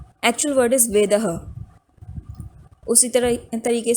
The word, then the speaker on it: वेदः: वेदः, वेदः, वेदा, वेदा, वो ऐसे ट्रांसफॉर्म होते होते वेदः का वेदा बन गया।